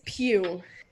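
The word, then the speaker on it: Pugh: her actual name it's pew p-u-g-h i'm pretty sure that's how you say it but for me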